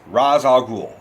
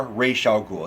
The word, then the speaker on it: Ra's al Ghul: alias Liam Neeson plays Ra's al Ghul or racial cool it depends on how you pronounce it I never really knew which one of announces so I useful Ra's al Ghul literally means head of